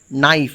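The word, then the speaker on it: knife: সেরকম কে এন আই এফই হলেও কে থাকলেও এখানে কে এর উচ্চারণ কিন্তু হয় না। এটা নাইফ উচ্চারিত হয়।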